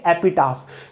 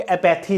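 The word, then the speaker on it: epitaph: है नेक्स्ट है एपीटफ इसको ऐसे प्रोनाउंस करेंगे एपीटफ कुछ लोग एथी इसको बोलते हैं ये होता है एपीटफ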